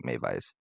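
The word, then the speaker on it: Meiwes: probably actually Maiwes, since they pronounce their W's As V's. V's. Yeah, Yes. Okay. knock half that W off.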